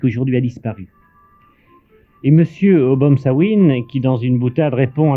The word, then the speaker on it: O'Bomsawin: ou trois dû rencontrer ce soir monsieur o'bomsawin et le prononcer ce que je prononce bien votre nom